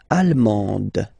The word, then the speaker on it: allemande: L'Allemagne, allemand, allemande. Okay, same thing here. Okay, you don't pronounce the final D, but then you pronounce it here for the feminine form.